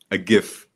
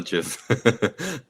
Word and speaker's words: GIF: And the background I was using before was a GIF, not a GIF. I learned that last time.